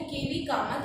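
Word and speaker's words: K. V. Kamath: और आता है इसका चेयरपर्सन कौन है, इसका चेयरपर्सन है केवी कामत, ठीक है, प्रोनाउंसिएशन है केवी कामत, और ये इंडिया से है।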